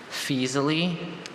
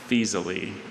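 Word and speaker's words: Faesulae: Fisali? Fisali. Any alternate pronunciations?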